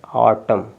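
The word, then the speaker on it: autumn: है एम एन है तो जब लास्ट में अगर देखिए वर्ड्स के लास्ट में एम एन हो तो एन साइलेंट हो जाएगा क्या हो जाएगा एन साइलेंट तो यहां पे आपका एन साइलेंट हो जाएगा क्या है साइलेंट तो अब जब एन साइलेंट हो गया तो ए यू टी यू एम ऑटम क्या हो जाएगा ऑटम क्या हो गया ऑटम ठीक है यहां तक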